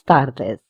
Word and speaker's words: tardes: The t word in tardis is pronounced as t the and the word buenas will be again opened and with a round mouth. So we will say buenas tardes.